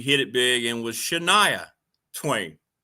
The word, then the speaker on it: Shania: And of course, later she hit it big and was Shaniah Twain. She changed the pronunciation of her name by the request of her record label.